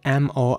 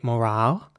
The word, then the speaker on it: morale: In British English, you would say morale with an R sound. And in American English, you would say morale with an A sound and a very rounded R.